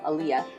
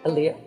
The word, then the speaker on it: Aliya: Aliyah look at me and that's how it's pronounced at home Illya Illya um but everyone here sees my name written down they say uh yeah so here I'm Anya and I was totally fine